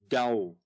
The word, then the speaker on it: Tao: Well, over in the East they have what's called the Tao, the symbol for the yin and the yang, spelled T-A-O, but pronounced Dao.